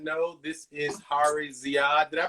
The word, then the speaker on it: Ziyad: So for my folk that are tuning in who may or may not know, this is Hari Ziyad. Did I pronounce the last name right?